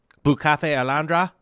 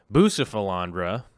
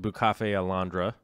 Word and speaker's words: Bucephalandra: it, but needless to say, we got some Bucafe Alandra, which is how it's supposed to be pronounced. But now everybody's calling it Bucephalandra, even though it's supposed to be pronounced Bucafe Alandra, right?